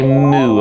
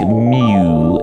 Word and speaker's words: µ: Yes, I do say moo a lot, and I probably shouldn't. I think mew is the correct pronunciation.